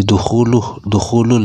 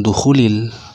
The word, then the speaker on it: dukhulul: Jadi dukhulul ini bacanya. Gus Miftah kemarin salah membaca i'rabnya itu. Ini rofa. Makruh bagi seorang muslim dukhulul, bukan dukhulil, tapi dukhulul bi'ati, masuk ke tempat peribadatan non muslim.